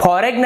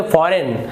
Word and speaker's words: foreign: और देख लेते हैं FOREIGN, तो इसे आप फॉरेन नहीं पढ़ेंगे, फॉरेन नहीं पढ़ेंगे, आप इसे पढ़ेंगे फॉरेन, तो यहां पर भी जी आपका साइलेंट है।